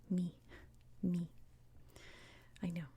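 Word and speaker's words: μι: looks like this and in english we call this letter mu mu but in greek it's pronounced me me i know it's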